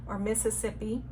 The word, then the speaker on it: Mississippi: I live right next door to Mississippi. as it's correctly pronounced.